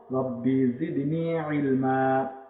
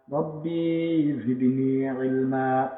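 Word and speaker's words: رَبِّ زِدْنِي عِلْمًا: এই যেখানে লেখা আছে, কিন্তু আমরা যখন দম ছেড়ে পড়বো তখন কিভাবে পড়বো? রব্বি জিদনি ইলমা, রব্বি জিদনি ইলমা, এভাবে। এই যে দুই জবরে একটা জবর বাদ দিয়ে এখানে একটা জবর উচ্চারণ করতে হয়।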